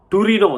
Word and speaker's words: Torino: called shroud of turin in italian it is called torino the language it's not touring this english who call